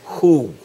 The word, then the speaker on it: who: you what that is who who can help very good okay who can help now the W is silent so the next time you see W you know that that's who okay all right you